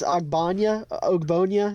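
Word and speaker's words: Ogbonnia: Okoronkwo to the I butchered his name. It's Ogbonya, something like that.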